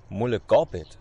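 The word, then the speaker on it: Møllegabet: Mulliger Beat Bogen Oder nee, Mulle Gobbit. Also im Norwegischen wird dieses A mit dem Kringel eigentlich als O ausgesprochen.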